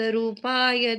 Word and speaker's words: रूपाय: प्रशांत रूपाय, रू दीर्घ है यहाँ पर, तो दीर्घ उच्चारण कीजिए। प्रशांत रूपाय दिगंबराय देवादिदेवाय नमो जिनाय।